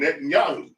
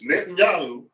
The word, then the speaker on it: Netanyahu: And I don't think it's the Jewish faith's fault that they're ran by a Zionist called Netanyahu.